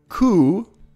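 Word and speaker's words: Koe: Ku, We have many secrets. and it's a long O sound.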